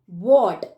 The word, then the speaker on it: what: अगला वर्ड है वॉट। WHAT, वॉट।